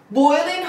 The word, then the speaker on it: boiling: boiling hot یعنی انقدر هاته که آب جوش میاد، خون داره جوش میاد. So it's boiling دوباره جیه تلفظ نمیشه.